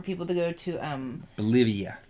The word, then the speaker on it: Bolivia: to go to um Bolivia yeah it rhymes with Olivia Newton John yes wow uh and